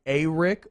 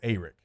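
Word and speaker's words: Arik: y'all saying it wrong did he say a rick or eric he said it was more eric see i think that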